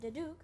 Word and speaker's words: duduk: I'm going to learn how to play a duduk.